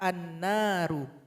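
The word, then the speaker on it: النار: Misalkan pada kata an-naru. Awalnya ru, karena kita berwaqaf menjadi ra sukun. Cara membacanya juga ditebalkan.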